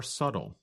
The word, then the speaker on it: subtle: other differences are more subtle that's spelled s u b t l e but we do not pronounce the letter B in the word subtle describes something that is